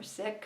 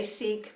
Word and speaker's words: Sikh: she's a sikh or sick i'm sorry it's some people say seek but it's actually pronounced sick the sick faith she's